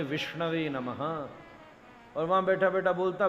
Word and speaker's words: विष्णवे नमः: शुद्ध उच्चारण है विष्णवे नमः।